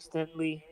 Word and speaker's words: Stingley: They got Will Anderson, Derek Stinkley, whatever how you pronounce his last Danielle name. Hunter. Like, Stingley? Stingley, Stingley.